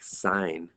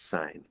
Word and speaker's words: sine: for evaluating something like sine of 135 remember that's not sin of 135 you sound like a fool if you say that it's sine si and E is how it's spelled okay the other thing